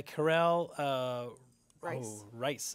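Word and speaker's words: Karel Reisz: This is directed by Karel Rice is how we're going to pronounce that.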